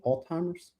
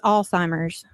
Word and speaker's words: Alzheimer's: So, uh two two big things that we want to talk about is Am I pronouncing it correctly? Old-timers? Is that how you say it? It's Alzheimer's.